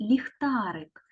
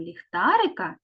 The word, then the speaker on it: ліхтарик: буквою л і малюнком ліхтарика є звуковий аналіз Давайте перевіримо чи правильно розібране слово ліхтарик Я перший звук у слові ліхтарик він приголосний м'який позначається двома рисочками і голосний позначається кружечком